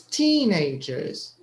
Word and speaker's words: teenagers: first first so it's teenagers so it's on the first syllable teen this one is stressed okay teen teenagers teenagers